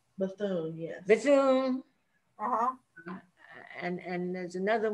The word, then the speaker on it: Bethune: never know how to say her last name buffoon bethune yes and and there's another one the musician